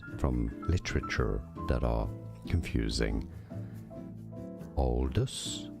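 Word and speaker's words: Aldous: Oldest. So some say it more as Aldis, others more as oldest. Oldest or Aldis or oldest or oldest. Okay. So it is Aldis Huxley.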